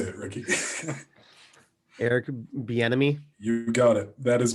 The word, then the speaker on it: Bieniemy: Eric Bieniemy.